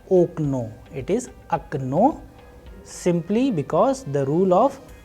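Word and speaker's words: окно: Especially in this last word, we have a very different pronunciation. You know why? Because here the role of stress or udareniye is playing a vital role, and clearly the sound is changing.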